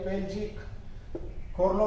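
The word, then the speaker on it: Pelgi Khorlo: पेलजी, ये जो भी आप पढ़ोगे उच्चारण देखिए, खोरलो। ये जो अवार्ड है PELGI पेलजी खोरलो जो अवार्ड दिया गया है, ये किसके द्वारा दिया गया है?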